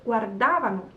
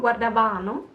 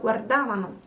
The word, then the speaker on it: guardavano: The third person plural is guardavano. So it's not guardavano, but guardavano. Here the accent changes.